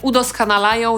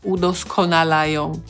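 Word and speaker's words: udoskonalają: Poza tym, pomimo tego, że uprawia zawód już od wielu, wielu lat, cały czas korzysta z zajęć, które udoskanalają jej akcent… U-do-sko-na-la-ją – chyba tak powinnam powiedzieć, nie?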